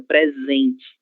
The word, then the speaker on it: presente: Então, letra s entre duas vogais. Som de z.